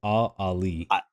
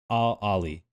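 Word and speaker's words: Al Ahly: Ali, I don't speak Arabic, but from what I understand, it's Al Ali. Ali. I think I think it's pronounced very similar to the Saudi Arabians.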